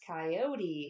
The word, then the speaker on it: coyote: yeah because apparently um Spanish speakers pronounce coyote with three syllables and yet Western Americans pronounce it with only two coyote um what are